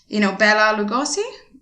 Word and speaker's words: Bela Lugosi: So I don't actually know how to pronounce his name, but Bela Lugosi, Yeah, that's correct.